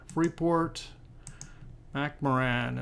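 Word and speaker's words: Freeport-McMoRan: Port where are we free port macaran is how I pronounce it and uh where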